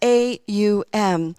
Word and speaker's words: Om: That it's that seed word, and it's actually pronounced A-U-M, and it's done with a complete and full breath.